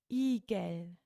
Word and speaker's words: Igel: we sacked mandas eagle so the emphasis is on the i or the e in german igel eagle singular and plural so